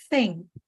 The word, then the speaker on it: thing: So try to practice saying and record, especially with the camera, like a video, and make sure that your tongue is out. Thing. Because if you just say thing, it's the examiner, they